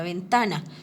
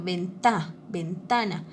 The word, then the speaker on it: ventana: Entonces, por ejemplo, si yo voy a pronunciar la palabra ventana, ¿sí? ¿Cuál es la sílaba donde lleva un poquito más de, donde mi voz tiene que esforzarse un poquito más? En la sílaba ta, ¿cierto? Ventana, ¿cierto? Ventana. Entonces, ese ta, esa sílaba ta, es donde yo tengo que hacer un poquito más de esfuerzo para pronunciarla. ¿Listo?